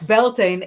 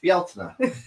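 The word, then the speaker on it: Beltane: And it turns out that the correct way to pronounce Beltain is in fact Bela. There's so many more vowels there.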